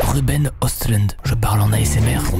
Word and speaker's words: Ruben Östlund: nom du réalisateur, mais ça se dit je crois Ruben Östlund.